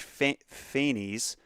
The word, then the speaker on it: Phanes: This latter pair then crushed the cosmic egg with the serpentine coils, so that still tracks, to hatch Phanes, thank you, Carl, for the pronunciation of Phanes, life, and divide the cosmos into its constituent parts, heaven, air, earth, and sea.